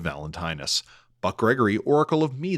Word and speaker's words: Valentinus: Ben Bendlow, Oracle of Pook, saying Valentinius instead of Valentinus.